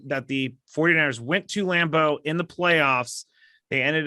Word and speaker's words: Lambeau: grass is it isn't lambeau though they have the uh the warming coils under the i don't know why i split it into two syllables it's lambo not lambeau oh i was about